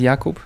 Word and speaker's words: Jakub: you say it so the first name is yakob in Polish and in the the